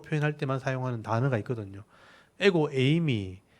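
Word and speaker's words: ἐγώ εἰμι: 에고 에이미, 이게 헬라어로 발음하면 에고 에이미라는 건데 나는 무엇이다 이런 표현이에요.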